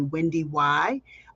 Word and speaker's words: WendyY: those of you who don't know me I'm Wendy y everyone calls me Wendy y uh yes you do pronounce the second why and I'm a 20